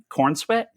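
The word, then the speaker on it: Corenswet: of um of Superman in costume David uh corn sweat corn sweat right that's how you pronounce his last name um uh yeah it's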